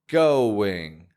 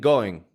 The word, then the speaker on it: going: Such as going. I'm not just saying going, but I'm getting a W right in the middle.